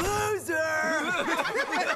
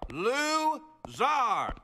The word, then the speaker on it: Lou-Zar: Loser! It is pronounced Zar. Lou-Zar. This is Trigulocalcometry 101.